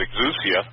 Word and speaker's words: exousia: The authority is exousia. Some people pronounce it exousia.